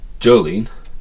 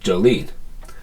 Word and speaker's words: Jolene: just say it so Jolene Jolene Jolene Jolene we can hear that the emphasis is on lean and not on J it's not Jolene it's Jolene that's just the way you say the name so the J the